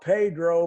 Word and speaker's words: Pedro: It's spelled Pedro, but they pronounce it Pedro. I don't know why.